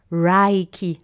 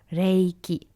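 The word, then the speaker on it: 霊気: The most common mistake that I hear is Reiki, like almost if it was A instead of a E, right? So it's Reiki. It's fine though to say Reiki. The most important is to not say Rai.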